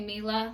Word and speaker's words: Mila: I would say Mila, like the actress, but some people, like I said, are choosing to say Mila.